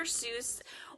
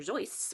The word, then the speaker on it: Seuss: Seuss so dr. Seuss or actually dr. Joyce was actually how he pronounced it a little known fact that a